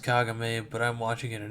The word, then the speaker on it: Kagome: It's about a girl named Kagome. Yeah, I know it's pronounced Kagame, but I'm watching it in English, so sue me.